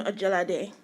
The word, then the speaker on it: Ojelade: And, you pronounced your last name, is it Ojelade? Yes, good morning. My name is Ojelade. You pronounce each syllable? Okay, Ojelade. Yes, Ojelade. Ojelade.